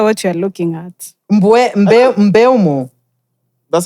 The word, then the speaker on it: Mbeumo: Mbeumo. That's how you pronounce it.